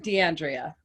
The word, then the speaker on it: DeAndrea: DeAndrea. So it's actually like Andrea, DeAndrea.